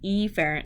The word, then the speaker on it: efferent: When you see afferent and efferent, now I pronounce them afferent and efferent so you know what I'm saying.